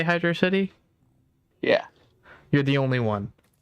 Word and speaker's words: Hydrocity: not an essay one fan how do you pronounce hydrocity mm-hmm hydrocity why is this true for everyone it's it's